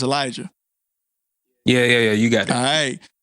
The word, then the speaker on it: Elijah: pronouncing your name wrong it's pronounced Elijah bro you got it okay so it's Elijah but it's it's not spelled the right way I just wanted to